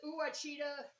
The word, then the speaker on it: Ouachita: And I've been watching, I think you pronounce it as Uachita Mountain Living. He also goes by the Dog Man. Great person. You should check him out. And Uachita is Ouachita, and then Mountain Living, the Dog Man.